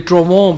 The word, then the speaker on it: Trouvons: ये जो कंपनी थी इसका नाम था ट्रोवोन, इसकी जो स्पेलिंग है TROUVONS, और मैं अभी डॉक्टर मजारी साहिबा से इसका समझने की कोशिश कर रहा था, तलफ़ुज़ ये ट्रोवोन बेसिकली फ्रेंच जो है लगता है, लेकिन ये कंपनी थी